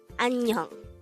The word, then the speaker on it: 안녕: And with that, you've just learned Annyeong Hasimnikka.